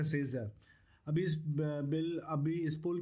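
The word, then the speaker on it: Scherzer: Okay, इसको ऐसे pronounce करें, सेजर।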